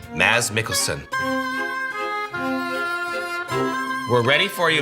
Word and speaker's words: Mads: In spite of all that fame, though, almost everyone gets his name wrong. Cause, when you look at his first name, it reads pretty easily as Mads Mikkelsen, right?